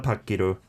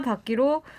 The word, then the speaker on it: 받기: Yeah, 얼마 받기로 했냐고. Again, here 받기. You might think that you pronounce it as 받기, but it's pronounced as 받기 because 받기. there's a last consonant in front of 기.